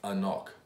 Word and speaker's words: AnCnoc: it new bottle here it's pronounced if you can see that there's pronounced a knock to know how I would